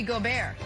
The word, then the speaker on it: Gobert: to note fun fact in french rudy gobert is pronounced rudy gobert nick who we got